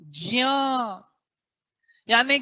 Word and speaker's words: ज्ञानी: तो बारबार आता है ये ज्ञ बोलते हैं यह ज्ञ नहीं है ग धनय नहीं है यह जि है जिया जिया उच्चारण सही करोगे तब तो सही सीखो ज धन य ज यानी ज्ञानी ज्ञानी बोल रहे हो ना जियानी है जानी मत बोल देना आप बहुत बड़े